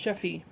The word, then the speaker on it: Yeffie: Joseph Jr., or Yeffie, pronounced Sheffie, is a 2-year-old archetypal Dutch boy with white blonde hair and blue eyes.